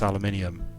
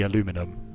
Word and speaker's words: aluminium: i've heard oh man you guys cannot pronounce aluminium you know it's a mistake right you know it's an error it's not supposed to be aluminum but there was a mistake and then the mistake caught on that was so confusing